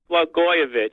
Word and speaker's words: Blagojevich: kind of liked Blagojevich, or I can't even pronounce his name, but he just Blagojevich. Blagojevich, yeah, that's it.